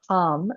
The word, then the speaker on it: ham: The mantra here is hum, spelled like ham, h a m, but pronounced hum, almost like hum.